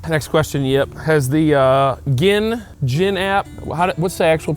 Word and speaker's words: GHIN: It's Actual GHIN, pronunciation from the USGA is GHIN. but we're going to say GHIN.